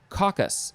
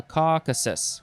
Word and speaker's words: Caucasus: one a member of a group of peoples of the northwestern caucus uh caucasus caucasus number two the language of the circassian